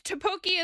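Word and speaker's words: 떡볶이: It's topoki is the pronunciation, but is how you spell it with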